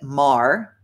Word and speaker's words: Marr: Marr, and it is like it pronounced like Bill Maher, no relation.